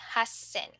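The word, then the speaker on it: 八千: we have 8,000 so instead of haisen we will say Hassen okay so let's take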